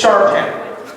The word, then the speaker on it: Sharpan: And it's Sharpan. For those of you who don't know how to pronounce his name, it's Sharpan. Sharpan. Sharpan? It's good? Sharpan. Kind of like Sharpen. Sharpest axe in the, yeah, you know what I mean.